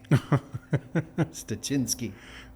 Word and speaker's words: Styczynski: to say a name but it's chin ski stachinski there you go shisinski yeah easy enough for